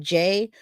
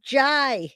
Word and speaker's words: Jay: And now you know how to say my name. I love when people call me Jai. It's funny because I know you guys forget. somebody will read uh my name and say, "Oh, Jai," even though I say it's